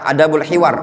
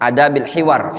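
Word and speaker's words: أدب الحوار: Pada bab-bab yang sangat banyak dari bab-bab adab, seperti adab jual beli, adab berdagang, adab bertetangga, adabul hiwar, afwan, itu bacanya adabil hiwar.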